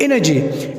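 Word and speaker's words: energy: यानी सॉफ्ट जी होगाय जिस तरह वर्ड है जिम तो जिम में जी के बाद वाई तो जिम और एनर्जी एनर्जी में देखो अगेन जी के बाद वाई है तो ये सफ जी यानी जीम की आवाज निकालेगा सेकंड है हमारे पास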